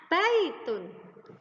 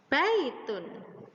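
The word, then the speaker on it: بَيْتٌ: Ada ba fathah menjadi ba, kemudian ada ya sukun, dan ada ta dhammah tanwin. Disambung, dibacanya baitun, baitun.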